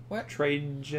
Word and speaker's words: Trajan: How do you pronounce that? What? Trajan.